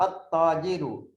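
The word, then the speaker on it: التاجر: So you find these haraf, you will read the Lam, and you find the Ta, At-Tajiru. If there is a Ta after the Lam, you say At-Tajiru.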